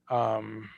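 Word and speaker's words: Budwig: Budvig. Budvig, right? You say it like a V, Sabina?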